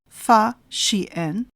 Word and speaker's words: Fa Xian: Chinese traveller Fa Xian, pronounced as Fa Xian, visited India in the early 5th century CE.